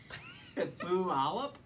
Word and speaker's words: Puyallup: PL up PL up Puyallup ooh or T Allah P Allah Puyallup yeah pretty much you call it puh and it's do the Puyallup oh my god Kenneth